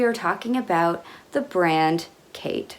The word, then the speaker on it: KHAITE: talking about the brand Kate spelled k-h-a-i-t-e it's pronounced the way you would say the name Kate the Founder's name is